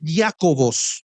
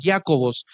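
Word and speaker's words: Ἰάκωβος: le da porque la el nombre griego para Santiago es jacobos así se pronuncia el nombre en griego jacobos entonces Santiago en el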